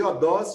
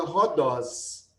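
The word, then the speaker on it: ὁδός: Então, em vez de odós, fica rodós. A palavra rodós, que significa caminho, então, ela é pronunciada dessa forma por causa desse sinal que a gente chama de aspiração áspera. A palavra eurisco também, que a gente lê reurisco, é também por esse motivo.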